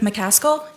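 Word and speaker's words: McCaskill: the record for us my name is mcal and it's spelled m e r e d i t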